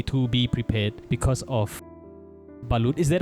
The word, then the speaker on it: balut: Before coming to the Philippines, people were already telling me to be prepared because of balut. Is that how you pronounce it? Balut?